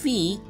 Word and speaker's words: phi: Turns out, the general term is not that crazy, and here, phi (pronounced fee) is the golden ratio.